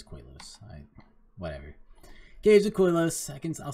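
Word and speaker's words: Koilos: Is it Koileos or Koileos? It is Koileos.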